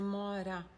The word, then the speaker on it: mora: Onde você mora? Donc le R, on ne prononce pas comme en français. Ra, mora. On dit mora.